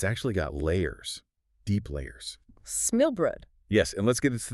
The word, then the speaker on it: Smørrebrød: Smørrebrød. Yes, and let's get to that pronunciation right out there. It's roughly Smørrebrød. Smørrebrød, guys.